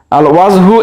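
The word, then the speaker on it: الوجه: আল ওয়াজহু এর আলিফ লাম উচ্চারণ হচ্ছে, তাহলে এটাকে আমরা বলতে পারি আল হুরুফুল কমারিয়া।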